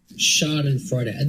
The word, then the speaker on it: Schadenfreude: Is that really how you pronounce that? Every time somebody says that word on the show, we ask, is that how you pronounce that? Schadenfreude. That is how you pronounce it.